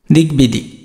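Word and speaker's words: দিগ্বিদিক: তো এটা দেখো দিগবিদিক, এটা কি দিগবিদিক, যে গ এর সাথে একটা ব আছে যার কোনো বটা কিন্তু উচ্চারণ হবে।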